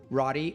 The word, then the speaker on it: Rady: because people are gonna go ahead it said Roddy r-a-d-y-r-a-d-y and last name is the reason I have to spell it is because it's ethnic glad you did